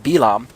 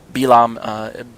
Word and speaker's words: Bil'am: Balak is asking Bil'am to curse Israel. Balaam is how most of you are used to hearing his name pronounced in English circles, Balaam.